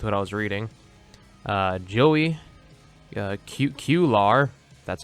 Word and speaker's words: Cuellar: follow along with what I was reading Joey cute Q lar that's how you say his name was very